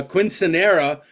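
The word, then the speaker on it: quinceañera: A quinceanera for a 15-year-old daughter of one of my reps.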